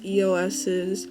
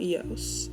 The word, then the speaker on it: EOS: Yeah, so basically I like to use EOS's Cashmere Lip Butter. Recently found out that that's how you pronounce the name. It's not EOS, it's EOS. Because it's an abbreviation.